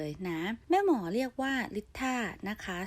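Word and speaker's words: Litha: วัน นึง เลย นะ แม่ หมอ เรียก ว่า ลิตร ถ้า นะ คะ สะกด เป็น l i t h a นะ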